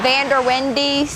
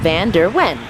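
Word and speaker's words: Vanderwende's: We get a lot of Van der Wendy's. See, it's pronounced Van der Wen, but without the D.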